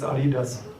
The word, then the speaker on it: Adidas: I'm a German, it's Adidas.